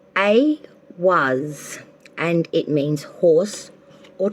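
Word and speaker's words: Ehwaz: So for Cancer, okay, from the Ruin deck, Cancer, the card you got is pronounced A was, and it means horse or travel.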